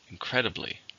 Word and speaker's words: incredibly: believe it's an adverb how many syllables aren't incredibly there are four stressed in the second incredibly incredibly no one was